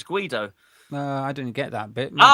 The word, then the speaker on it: Guido: Speedo is the same as Guido.